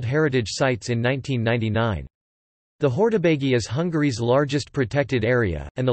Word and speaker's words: Hortobágy: Hortobágy (Hungarian pronunciation: Hortobágy) is an 800 square kilometers national park in eastern Hungary, rich with folklore and cultural history.